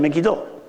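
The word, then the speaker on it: Megiddo: hosana same you're speaking about Armageddon and mistakenly pronounced two Hebrew words har and megido Har means mountain megido is the name of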